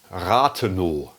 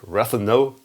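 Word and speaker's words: Rathenow: You can read R-O-W Ratheno, which is spoken out in German, Ratheno. You don't pronounce the W at the end of the word Ratheno, Ratheno.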